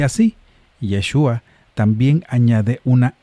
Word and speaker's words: Yeshua: Yeshua se escribe con la letra shin en hebreo, pero el griego sustituye el sonido sh por un sigma s. Así el nombre hebreo Yeshua añade un sonido al final y cambia el sonido